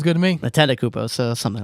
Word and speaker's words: Antetokounmpo: So Antetokounmpo is somebody to look out for.